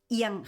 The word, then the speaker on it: Eoin: esté en el podcast, se llama Ian Higgins, pero se escribe Eoin porque es eh bueno, no es islandés, pero escendencia irlandesa. Eoin se escribe, pero es Ian Higgins y el libro se